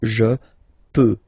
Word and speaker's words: je peux: je, as usual, so je peux, okay? Final x not pronounced here, okay? So you get x, but you don't pronounce it, so basically you get the sound peut, je peux.